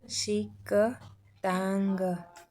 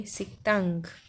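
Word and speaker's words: 식당: देखते हैं य पर सिक दंग स दांग नहीं बोलेंगे हम बोलेंगे सितांग क्योंकि क के बाद जो द आ रहा है दूसरी जगह पर आते हैं तो उ द कहते लेकिन हम यहां पर त प्रोनाउंस करेंगे सितांग क के बाद जो द आए तो हमेशा द त में त में चेंज हो जाता है दूसरे में देखिए सुक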